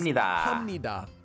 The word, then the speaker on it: 합니다: So the piup at the bottom of hop changes into a mium. Then we can read it normally as hamnida.